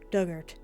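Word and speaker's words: Dugort: pronunciation those in the past tense of dig ort rhymes with hurt dugart what the I I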